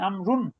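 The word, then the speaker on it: عمرو: না না, সেটা না, ওয়ের কোনো হারাকা নেই, ওর কোনো উচ্চারণ নেই, আমরুন, ওয়ে 2 পেশ।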